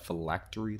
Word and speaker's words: phylactery: on his uh phylactery so you pronounce that phylactery glitch if I lacked real itch dope artwork though five